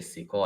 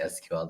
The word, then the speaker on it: SQL: SQL okay it depends depends on who I talk to so if I hear someone say sequel I say sequel or someone if uh they say SQL then I say SQL